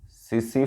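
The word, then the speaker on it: tsetse: और ये जो डिजीज होती है ये भी एक मक्खी के द्वारा फैलती है जिसका नाम है सीसी मक्खी। टी साइलेंट रहते हैं इसके नाम में, सीसी फ्लाई।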